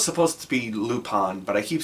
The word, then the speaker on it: Lupin: I keep bouncing back and forth on the pronunciation of that. I know it's supposed to be Lupon, but I keep saying Lupin because that's how it's spelled.